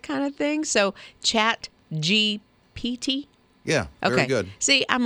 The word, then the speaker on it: GPT: you know those uh chat gbts that can did I say it right yeah GPT yeah I gotta say that slower so I don't say it wrong but they can do